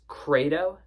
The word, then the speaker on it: Credo: It's 2011's Credo.